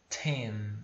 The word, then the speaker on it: ten: Porque a pronúncia é soprada, tá?